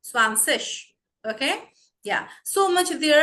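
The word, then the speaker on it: zwanzig: So see over here, my dear viewers and learners, IG I'm not pronouncing as a gi, ig. No, it is ish, 20.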